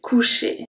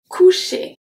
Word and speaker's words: coucher: Coucher. Coucher. We have two different sounds here. So we have the O-U that make the sound OU. The C is a hard C.